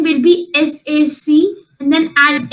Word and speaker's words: sacs: To make it plural for saying bags, the word is SACS. I've added an extra S, but the pronunciation will remain same. It will be sac only. I've told you, whenever you're making any word plural by adding S, the pronunciation remains same as its singular form.